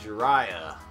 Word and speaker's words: Jiraiya: Jiraiya. Hey, you pronounced that right.